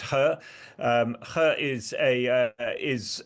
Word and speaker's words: He: Yeah, I mean, He He Lifeng, to give him his uh yeah, He is always a confusing surname in in in in Chinese, but it's pronounced He.